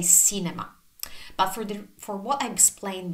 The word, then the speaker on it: cinema: But it's not, because we never ever pronounce the C as S, as S. So this is one of the two cases where the C is soft.